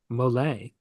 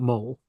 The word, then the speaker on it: mole: definitions from last week the sauce is pronounced mle mle sauce not mole so that came from